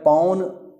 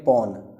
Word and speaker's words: पौन: है भल्लुक फिर है पौन देखिए एक मात्रा होगी तो बोलेंगे पौन और दो मात्रा होंगी बोलेंगे